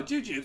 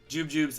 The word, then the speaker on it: jujubes: Oh, jujubes. Yeah, that's what I said. Jubjubes. I mean, maybe I'm just pronouncing it wrong.